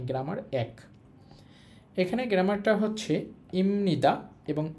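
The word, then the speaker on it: 입니다: একটার উচ্চারণ হচ্ছে ইমনিদা। এখানে একটা বাচিম আছে। ওই বিয়পের পর নিউন থাকার কারণে বিয়পের উচ্চারণটা এখানে ম এর মত হবে। আমি উচ্চারণটা লিখে দিচ্ছি। উচ্চারণ হবে ইমনিদা।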